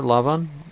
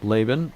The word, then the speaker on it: Laban: well he arranges with her father lavan uh laban if some of you have heard it pronounced that way to work